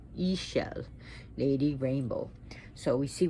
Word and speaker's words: Ixchel: i know it's spelled i-x-c-h-e-l but but it's pronounced e shell not eggshell e shell lady rainbow so we see with the moon